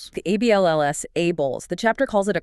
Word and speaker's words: ABLLS: The ABLLS pronounced ABLESS. The ALLLS ABLESS.